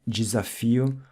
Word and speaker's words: desafio: Anytime you see an S between vowels, like in desafio, it'll sound like a Z, like we saw earlier in the word coisa.